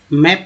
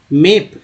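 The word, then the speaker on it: map: मैप में ए को क्या पढ़ रहे हैं, मेप नहीं, मैप, ए पढ़ रहे हैं।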